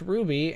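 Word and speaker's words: RWBY: It's pronounced Ruby, and it's an anime sorta, and it's made by Monty Oum.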